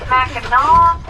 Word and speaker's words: Mackinaw: But they're both always pronounced Mackinaw, never Mackinaw.